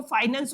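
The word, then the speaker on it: finance: Plus में एक शब्द और है जिसको हम लोग कहते हैं फिनांस, या बहुत सारे बच्चे इसको फाइनेंस भी प्रोनाउंस करते हैं।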